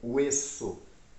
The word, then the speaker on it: hueso: Osso em espanhol é hueso, hueso. Com H, tá bom? Hueso. Osso é hueso.